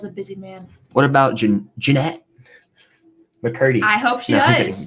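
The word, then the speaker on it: Jennette: What about Jeanette McCurdy? I hope she does. Janet. See? That's how it's pronounced.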